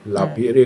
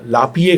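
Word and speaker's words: Lapierre: ही freedom eight midnight लापियरे Collins की किताब है वो लापिए कोलिंस उसका सही उच्चारण है। हमने गलत बोल दिया।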